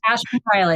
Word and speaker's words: Ashman: Is it Ashman? Yes. Okay. Ashman Riley. Ashman Riley. Okay. I almost always double check pronunciations and then I'm like, for all I know, it's Ashman.